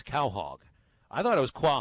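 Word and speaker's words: Quahog: by the way Micah tweets us the correct pronunciation of q ua h OG it's Cal hog I thought it was qua hog I actually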